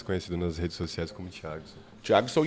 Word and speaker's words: Thiagson: mas sou mais conhecido nas redes sociais como thiagson thon e a gente estava conversando aqui nos